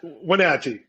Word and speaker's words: Wenatchee: Wenatchee? How do you say it? Wenatchee. Nobody can ever pronounce it. Yeah, it's Wenatchee.